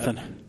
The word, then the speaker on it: Raghunathan: Raghunathan.